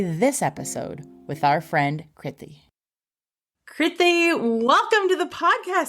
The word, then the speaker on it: Kriti: In terms of me, my name's Kriti. It rhymes with pithy.